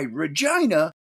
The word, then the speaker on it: Regina: his second assault and this is why Regina rhymes with fun I in tears that writing